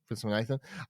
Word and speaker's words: Viswanathan: Viswanathan.